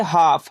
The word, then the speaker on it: half: उसी प्रकार से HALF, यहाँ एल साइलेंट रहेगा क्योंकि एफ के पहले है एल, तब इसे हम क्या पढ़ेंगे, हाफ।